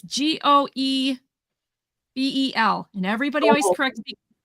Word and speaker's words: Goebel: It's Goebel.